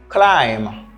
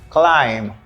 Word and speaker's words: climb: we have the word climb don't forget the letter B is silent we say climb the second we have